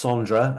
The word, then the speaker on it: Sondre: So his name is spelled Sondre. That's Sondra, and then Leke is spelled Lerche.